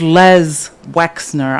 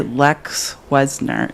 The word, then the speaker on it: Les Wexner: It's Les Wexner. I always say Lex Wesner.